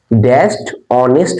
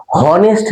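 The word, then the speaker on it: honest: উচ্চারণটা কি হওয়ার কথা হনেস্ট ম্যান তাইতো কিন্তু আমরা কোথাও কি লাইফে কোনদিন হনেস্ট ম্যান বলেছি আমরা কি বলি অনেস্ট ম্যান তাহলে প্রথমটা কি আসছে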